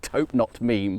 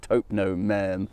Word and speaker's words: Taupenot Merme: This is, I'm sure I always mispronounce this, I want to call it Taupenot Meme, but it's something more like Taupenot Merme.